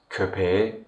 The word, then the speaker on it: köpeğe: in Turkish it is köpeğe yemek verdim, köpeğe yemek verdim. When the word köpek receives the suffix e, the last k changes into yumuşak g, which is the voiced counterpart of k.